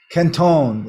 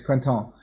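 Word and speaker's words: Quinton: that down Ketone does q-u-i-n-t-o-n some cute Quinn kentone is how you pronounce it in French Canton and uh or people here pronounce it Quentin or Kenton or but it's Quenton and it's a guy's name that figured this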